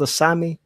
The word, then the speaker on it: Asami: So your book is called Asami, Children of Rusu. I'm hoping I'm Yes.